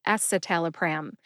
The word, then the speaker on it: escitalopram: don't cover pharmacology here we just talk about pronunciations and today we are talking about two SSRI anti-depressants they are satal pram and esalaam satal pram is generic for Celexa and ESAT